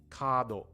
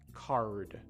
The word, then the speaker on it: card: Or how about do, right? Kado, kado. Card, card in English.